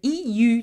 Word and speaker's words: eu: Now, there is one exception we need to have a look at, the EU together of the verb to have. Past participle is not pronounced U, but it's pronounced U, okay?